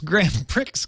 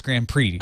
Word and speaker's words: Grand Prix: it it's an X I'm just saying Grand Pre not I know but I actually still remember the moment when I had a little uh little like fold out board game as a kid it was a racing game and I said I like this Grand Pricks game and my parents both rushed to correct my pronunciation pre it's Grand Prix honey well see I don't